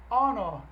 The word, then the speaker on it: honor: Ladies and gentlemen, it's an honor, é uma honra, an honor, sharing this fantastic night with you.